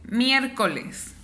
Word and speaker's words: miércoles: Mi voz se levanta o mi voz suena más fuerte en donde yo digo miércoles. Si la separo es miércoles. Ya identifiqué que aquí está mi sílaba tónica, que es donde yo mi voz la elevo un poco más. Entonces, miércoles es una palabra que tiene una sílaba tónica en la primera sílaba y dos sílabas